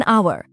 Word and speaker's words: hour: एन एग N orange अब दो tricky an आवर क्योंकि यहां एच साइलेंट है और आवाज वोवेल से शुरू होती है और अ यूनिवर्सिटी